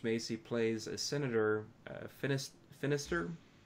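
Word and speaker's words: Finistirre: plays a senator finished Finister it rhymes with sinister because who's campaigning against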